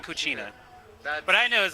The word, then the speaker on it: Puccia: name is my dog's name is coochie it's actually cooa but I KN was